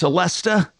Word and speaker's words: Celesta: Again, is this Celesta? Is that how you pronounce it? Yeah, it is.